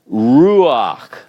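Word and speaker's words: רוּחַ: So in this particular instance, we have the resh, which is an R sound, r, oo, and since oo is not the preferred class of vowel for this consonant, this guttural, we insert another vowel sound, an ah, because they prefer that. So it's ruach, ruach.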